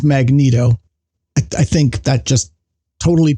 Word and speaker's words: Magneto: control over magnetism uh apparently the official pronunciation is Magneto I think that just